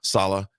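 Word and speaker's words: Saleh: How do you pronounce his last name? Sala.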